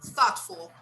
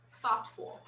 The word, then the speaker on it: thoughtful: here it's silent actually the gh is always silent thoughtful yeah we don't pronounce